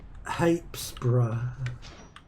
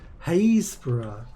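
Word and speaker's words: Happisburgh: Jack Stompson is from Hapesborough, which is, I don't even know if I said it right, but it's spelt Happisburg, because of course it is. Is it not? Haysborough. Well, I wasn't far off.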